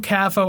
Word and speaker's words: Cafo: track cathole was released kfo cafo i don't know why i've always called it cafo though that that's how i was thinking when i was reading it so did i think of guitar capo yeah people still say capo